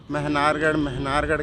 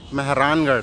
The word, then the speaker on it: मेहरानगढ़: जो मैं मेहनारगढ़ कर रहा था वो एक्चुअली में मेहरानगढ़ है। तो मेहरानगढ़ सही प्रोनाउंसिएशन है उसका।